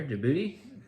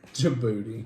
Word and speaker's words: Djibouti: It's like DJIBOUTI.